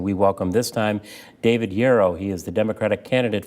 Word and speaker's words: Jaroch: My name is David Jaroch. It's pronounced like arrow.